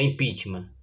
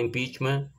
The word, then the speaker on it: impeachment: com prestação de serviço a pronúncia correta é impitma tem muita gente que fala IMP pachman como se fosse de origem francesa mas na verdade o intuito é de origem inglesa Então como pronunciava o